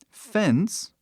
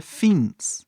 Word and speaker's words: fence: chegar mais perto fens tem um e no final né ele não é pronunciado Então deveria a pronúncia deveria ser fins né porque o nome dessa vogal é i então fins mas ninguém fala fins falamos F E por